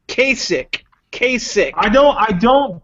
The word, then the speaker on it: Kasich: it up if you're gonna mention his name pronounced it right Kasich Kasich I know I don't give him I